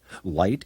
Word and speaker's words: light: light on the subject light is another word with a silent gh the light is too